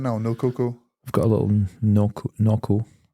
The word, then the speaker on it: Nocco: Is it not no cocoa or is it Noco? I don't know. Let's see it. How does it spell? Nocco. Oh yeah, it's spelled Nocc. It's Noco.